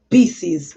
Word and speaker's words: Pisces: Pisces.